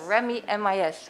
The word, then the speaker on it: ReMiMIS: I'm happy I'm now also learned how to pronounce it. ReMiMIS, ReMiMIS. Yes. So ReMiMIS.